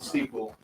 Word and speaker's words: Seaquell: it like so that's s EA q l l Sequel and kind of a